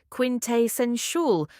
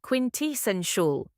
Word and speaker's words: quintessential: Most people say quintessential, but the correct way is quintessential. The second syllable is tea, not tay. Think quint plus essential.